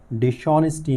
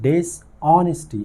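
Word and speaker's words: dishonesty: डिसऑनेस्टी meets डिसऑनेस्टी, ये डिसऑनेस्टी नहीं है, ये है डिसऑनेस्टी, इसमें एच साइलेंट है, और ये है डिसऑनेस्टी, और इसका मतलब है बेईमानी।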